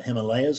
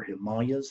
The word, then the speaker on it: Himalayas: gone to the the the Himalayas or Himalayas however you pronounce that it's I think either is correct when they might go